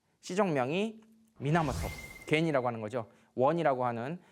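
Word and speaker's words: 源: 겐페토키스 할 때는 이렇게 음으로 읽지만 하나로 읽을 때는 미나모토라고 읽어요.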